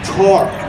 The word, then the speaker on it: torque: engineers talk about talk when i say talk it sounds like i'm saying t-l-t-a-l-k what i'm saying tor i have to say it like a pirate torque it gets twisted in